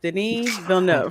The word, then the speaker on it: Denis Villeneuve: I'm like, "Yeah, the French came over here," but yeah, Denis Villeneuve.